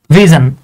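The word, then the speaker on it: vision: এভাবে লিখি ভি আই এস ও এন এটার উচ্চারণ হচ্ছে জান ভিজন এখন আমি বলতে পারেন ভাই এটা ভিজন কিন্তু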